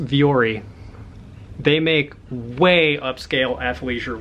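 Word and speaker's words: Vuori: donating all of it that's pronounced viori they make way upscale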